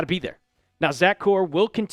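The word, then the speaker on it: Kuhr: Because right now you're having your linebackers coach, Zach Core, not Kerr, Core. They made it specifically in one of the articles I've read that that's how you pronounce it.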